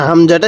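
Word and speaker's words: همزة: হামজাটা কিভাবে লেখা হয়েছে অনেকে এটাকে আইন পড়ে থাকি না আমরা যারা নতুন কোরআনুল হাকিম শিখতেছি বা আরবি হরফ গুলো শিখতেছি আমরা প্রাথমিকভাবে এটাকে আইন বলে থাকি না এটাকে আইন বলবো না এটাকে হামজা বলবো তাহলে হামজা আমার সাথে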